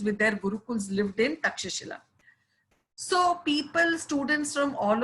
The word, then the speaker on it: Takshashila: Okay, in English it's written Takshila, but generally in Sanskrit it is pronounced Takshashila.